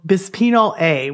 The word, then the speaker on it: bisphenol A: all let's talk about the chemical BPA or bisphenol A which is how it's pronounced and it's found in plastics it's not